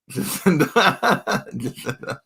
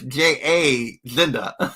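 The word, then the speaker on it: Jazinda: Jacinda. I'm sure I didn't pronounce it right. It's J.A. Zinda.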